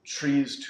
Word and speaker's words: TRIZ: The trees tools, or TRIZ, some people pronounce it, creativity tools, but trees being a big one.